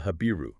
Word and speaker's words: Habiru: And the group they constantly identify as the threat is called the Habiru, or Apiru. Sounds like Habi-Ru.